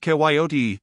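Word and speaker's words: coyote: this latter was the regular koote pronounced kotee of the farther deserts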